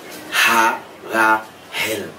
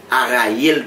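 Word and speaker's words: Haraël: marchait avec là, les Ha-Ra-Hel. Ok? Tendez son H là. Ha, m'pas dit A non s'il vous plaît. Ha-Ra-Hel. M'pas dit Araël tout.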